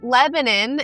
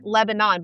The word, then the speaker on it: Lebanon: said a certain way like Lebanon in Mount or in Wilson County is spelled like Lebanon, but you would not call it that. It's Lebanon.